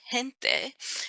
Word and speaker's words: gente: So there's a soft G like gente, and there's a hard G like seguir.